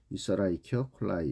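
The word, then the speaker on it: Escherichia coli: 이치 라이키 콜라이 뭐 이렇게도 발음 하는데 보통 라이키 콜라이 이렇게 발음을 하는 것이 정상적이라고 할 수 있겠습니다 자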